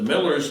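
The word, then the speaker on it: Mueller: And but the Millers live right across from us, and and that's spelled M-U-E-L-L-E-R.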